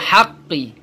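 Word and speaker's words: حق: Seperti contoh ini, apabila berhenti atau diwakafkan, maka ditekan suaranya, ditahan 2 harokat, diikuti qalqalah. Jadi ditahan dulu 2 harokat, bacanya seperti ini. Rabbihkum bil haqq. Rabbihkum bil haqq. Ditahan haqq. Tahan 2 harokat. Haqq. 2 harokat itu adalah 2 ketukan haqq. Baru diikuti dengan qalqalah atau bunyi pantulan.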